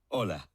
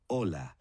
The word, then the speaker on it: hola: did you notice that although hola starts with the letter H it is not pronounced the letter H is